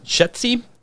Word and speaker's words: Shetzi: Caleb Shetzi, that's a correct way to pronounce the name, Great Lakes traditional sprint